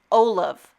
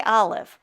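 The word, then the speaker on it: Olove: Olive. Is that how you say it? Cuz you want to say olive, but olive is with an I. And this is O L O V E.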